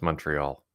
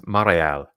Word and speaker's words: Montreal: it's the same thing with Montreal it's not pronounced Montreal it's maral maral maral m Moral Moral not Montreal anyway